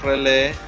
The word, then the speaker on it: relé: Ahí tenemos nuestra protoboard y los relés los podemos ver si lo buscamos aquí. Relay, ahí tenemos. No sale con relay, solo sale con relé. Se escribe R-E-L-E, pero la E tiene acento, la última.